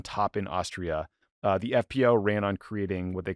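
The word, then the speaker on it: FPÖ: Austria where the farri Freedom Party or the fpo it's actually pronounced FP because there's an umot but I'll say fpo because we're Americans which was a party literally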